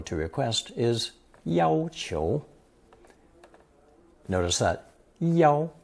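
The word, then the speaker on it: 要: The most common expression for to demand or to request is notice that yao is pronounced first tone in this usage not fourth tone.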